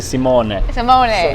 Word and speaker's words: Simone: better this time yes now female male italian simone yes he's the wine maker